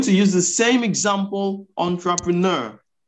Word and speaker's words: entrepreneur: And I'm going to use the same example, entrepreneur. Now, my focus will be on the second E. Second E. Yes, schwa. Entrepreneur.